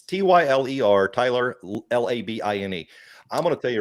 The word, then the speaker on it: Labine: Yeah, it's Tyler, Tyler, Labine.